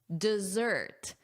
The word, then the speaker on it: dessert: Notice here desertz. So, you want that zz sound, that buzzing like a B. Z. Desert. Desert. And let's compare this against chocolate or sweets at the end of a meal, which is of course, say it out loud, dessert. Dessert. Dessert. Desert. Sand. Dessert. Sweets. Desert. Sand. Desserts. Sweet. So remember that pronunciation difference.